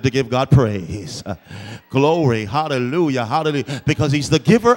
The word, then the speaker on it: hallelujah: If you notice with hallelujah, we pronounce the J with a Y sound because there is no J in the Hebrew alphabet. So we say hallelujah.